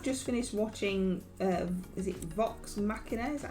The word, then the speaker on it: Vox Machina: We have just finished watching, is it Vox Machina?